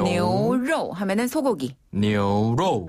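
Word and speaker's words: 牛肉: 뉴로 하면은 소고기.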